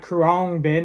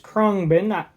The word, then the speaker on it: Khruangbin: Yes, that is how you pronounce it because I looked it up ahead of time. It's not Kurangbin, it's Kongbin.